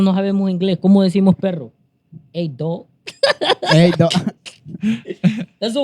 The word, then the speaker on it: perro: Because a dog in Spanish has Double R. It's pronounced perro, right? Uh-huh. You hear perro, right?